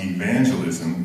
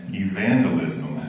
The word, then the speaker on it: evangelism: I once heard a young man accidentally mispronounce evangelism as evangelisim.